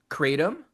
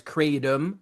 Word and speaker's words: kratom: So it is pronounced kratom, Kratom. The American population may pronounce it as kratom with like a D.